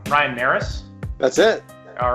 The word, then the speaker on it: Narus: It's cold today, but Ryan, our guest, Ryan, and correct me if I say your name wrong, Ryan Narus?